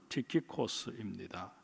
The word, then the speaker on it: 티키코스: 헬라어 발음으로는 티키코스입니다.